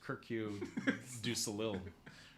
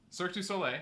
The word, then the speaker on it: Cirque du Soleil: Oh, that's how you pronounce it. Yeah. I thought it was Kirkue du Soleil. For real? No. Okay. Cirque du Soleil.